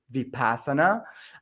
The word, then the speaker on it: vipassana: if you want to check it out it's vipassana if you don't know how it's spelled so it's v-i-p-a-s-a-n-a and it's a center